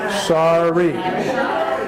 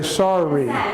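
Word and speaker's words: sari: two R's we say sorry sorry we pronounce it with two are sorry sorry sorry which is why I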